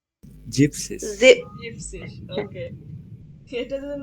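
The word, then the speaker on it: siebzig: এই যে জিভেন, জিভেন, জিভেন্সিস, জিভেন্সিস, হ্যাঁ জিভেন্সিস, আসলে জিভেন্সিস, না না, জিভেন এনটা বাদ যাবে, তাহলে কি হবে? জিপসিস।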